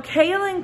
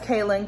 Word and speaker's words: kaolin: So kaolin clay, or kaolin, people pronounce it differently. I say kaolin clay.